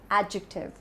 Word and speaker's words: adjective: The right pronunciation of this part of speech is adjective and not adjective. I have heard people commonly mispronouncing this word as adjective or adjective, but it's adjective. The stress is on the first part, adjective.